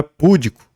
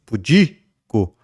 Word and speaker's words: pudico: é áo mas avaro não é púdico mas pudico não é interim é intere